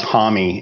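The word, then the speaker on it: Homme: I never knew that Josh H was pronounced homy until just like a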